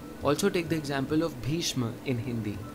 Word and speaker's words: Bhishma: Also take the example of Bhishma in Hindi. This is pronounced as Bhishyo.